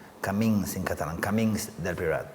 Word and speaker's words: Camins: Camins del Priorat. Camins. It's a Catalanish language. Okay. It's like caminos en español, no? Camins in Catalan.